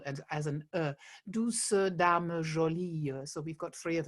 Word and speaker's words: Douce dame jolie: verse do sudama so we we are pronouncing um the ease at the end this is something you do in modern french as well in songs um that we uh unlike the spoken uh way we do pronounce the ease at the end as a sort of neutral vowel and as an uh